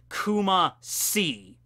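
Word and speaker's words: Kumacy: And Kumashi is not spelled with S-H-I, like she, as in death. No, it's literally the letter C. Kuma-si.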